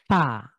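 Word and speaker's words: فاء: উচ্চারিত একটা হরফ বাংলা এই আরবির ফ টা হবে আমার ঠোঁটের নিচের ঠোঁটে উপরের দাঁত এসে স্পর্শ করবে একটু বাতাস বের হবে ফা উপরের দাঁত উপরের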